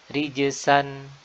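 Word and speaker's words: رجسا: Ya, di Al-Quran ada rijzan, rijzan yang artinya hukuman, ya, atau azab. Dan ini menggunakan huruf zai. Ada lagi rijsan, rijsan bisa bermakna kotoran atau najis, ya, dan menggunakan huruf sin.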